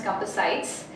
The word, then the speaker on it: Compassites: here to tell you how to pronounce Compass sites the name has derived from the tool which is a compass it helps everybody to